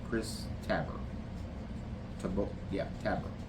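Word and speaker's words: Tabor: Taber, I believe is the way you say it. Chris Tabber. Tab. Yeah, Tabber.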